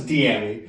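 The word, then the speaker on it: Dyami: Well, it's Diami. Diami. I know it's spelled D-Y, but Diami.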